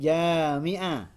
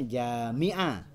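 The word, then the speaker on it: جامعة: bukan jemah ya ini jamiah jamah Kalau alifnya setelah Jim dibacanya jamiah Kalau alifnya setelah mim jamaah jamaah nah itu yang itu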